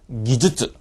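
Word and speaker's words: 技術: 말씀드리겠지만이 기줄 발음이 예 이건 앞뒤에 탁음이 다 들어가야 돼요 예 근데 많은 분들이이 타을 뺍니다 어 키즈 앞에 걸 빼든지 슈즈 뒤에 걸 빼든지 키슈 즈 둘 다 빼든지음 절대 안 되겠습니다 그죠 이거는 앞뒤 다음다 들어갑니다 한번 따라해 볼까요 기즈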